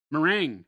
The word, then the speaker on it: meringue: How do you pronounce this word, Jason? Which one? This one. Mering.